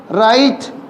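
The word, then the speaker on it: write: इस राइट में बेटा इसको बोल रहे हैं अपन दैट इज साइलेंट डब्ल्यू कभी नहीं बोला जाता ध्यान रखिएगा नंबर सेवन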